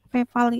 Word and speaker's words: feval: Feval, bacanya feval ya, padahal dia itu F evaluation.